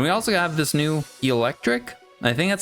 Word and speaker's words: Eelektrik: And we also have this new Eelektrik. I think that's how you say it. Eelektrik. There's 2 E's there, like an eel.